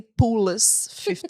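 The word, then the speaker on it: POULS15: quand vous l'écrivez, c'est important de prononcer Poolless 15. Oui. C'est vraiment important, c'est comme ça que ça se prononce.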